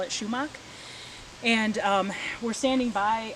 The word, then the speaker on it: sumac: to focus on sumac the american way of saying sumac is sumac it's spelled s-u-m-a-c and i grew up hearing everybody call it schumach and um so you